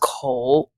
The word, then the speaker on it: Kou: So it's the Chinese, I guess, phonetic is Kou, and it's pronounced Kou, which means mouth in Chinese.